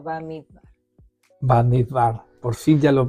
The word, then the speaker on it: Bamidbar: Bamidbar, por fin ya lo pronunciamos bien, ya que vamos a cerrar, ¿no Estamos es cierto?, terminando.